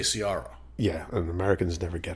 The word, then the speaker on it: Ciara: So even our daughter's name is Ciara. I would say Ciara.